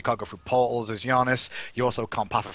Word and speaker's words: Janus: Now, Giannis, or Janus, whatever the hell you prefer to call him, Giannis, that's how it's said, to be fair. It's Giannis. It's true.